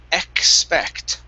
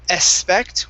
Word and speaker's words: expect: we have the word expect so instead of saying expect with only an s we need a k sound as well x expect try that